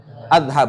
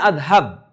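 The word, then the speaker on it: أذهب: Azhab. Bacanya adhab.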